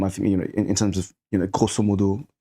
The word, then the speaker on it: grosso modo: Where I'm from, I think in terms of grosso modo, like mainland China. Although I'm what? Grosso modo, like sorry. Is that Latin? No, well, there's Latin, but pronounced in the French way because they say that.